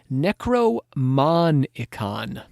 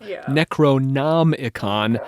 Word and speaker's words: Necronomicon: Because he switched a couple letters around. Yes. Yeah. It is a malapropism of H.P. Lovecraft's fictional Necronomicon of Alhazred.